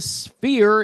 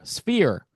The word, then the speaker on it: Sphere: So, the band is currently at the Sphere in Las Vegas. It's like a four syllable word. Sphere. No, sphere. You got to say it quick. It's one syllable.